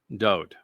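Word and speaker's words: דוד: The name was written, Daleth, Wah, Daleth. Pronounced Dod.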